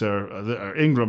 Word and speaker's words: Ingraham: Washington Post, a writer by the name of Christopher Ingraham, who thinks, Ingram, I guess is the proper pronunciation, like Laura's name, thinks that this is somewhat of an interesting story and perhaps even somewhat funny.